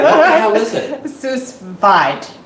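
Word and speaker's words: sous vide: some people say so it's French right the the S is silent so it's us V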